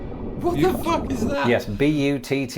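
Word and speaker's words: butte: ] is that yes b u tt e now before I go any further it's probably important in the interest of not being demonetized that I point out that this word is pronounced but and it's probably quite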